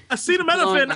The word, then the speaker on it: acetaminophen: to pronounce that word i was like no how is it possible that they have never heard this word before acetaminophen i look it doesn't look like how it's spelled it doesn't acetophemophant sounds